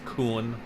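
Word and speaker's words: Kuhn: I say it like Coon, like raccoon, but it's Coon.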